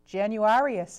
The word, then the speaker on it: Januarius: can't see I you finger over it uh januarius is J januarius yep the pat January after